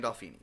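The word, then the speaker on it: Gandolfini: Gandalfini.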